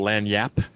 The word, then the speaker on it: lagniappe: And then, see, I'm in Louisiana right now, so I totally understand the concept of what they call lagniappe. I think that's how you pronounce that.